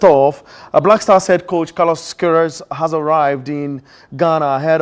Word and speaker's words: Carlos Queiroz: It took me a while to pronounce his name. Yeah. Carlos Queiroz.